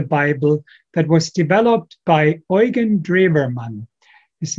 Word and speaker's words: Eugen: that was developed by Eugen Drewermann. His name is spelled Drewermann, D-R-E-W-E-R-M-A-N-N, and the first name is Eugen, like Eugene, without an E at the end.